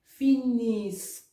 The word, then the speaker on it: finiscono: Finiscono, finisc. It's only changed it. Isk, isk, isk, isk. You pronounce it that way.